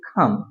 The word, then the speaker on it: come: कम, जिसे आप कम बोलते हैं, एक्चुअली ये कम नहीं होता, बल्कि इसे बोलेंगे खम, कम ऑन, कम।